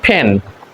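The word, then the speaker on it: pen: পি ই এন পেন আমরা পেন বলি কিন্তু এটা হবে ফেন আমরা এটাকে পেন্সিল বলি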